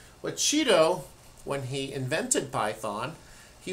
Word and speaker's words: Guido: review what uh Cheeto because he's Dutch not Italian I know it looks like Guido but in Dutch you would pronounce that Cheeto but Cheeto when he invented python